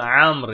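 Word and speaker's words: عمرو: Burası Amr yani Ömer değil. Ömer olsa, Ömer olsa tam okunuşu şeyle. Burada vav olmazdı. Onu söyleyebiliriz.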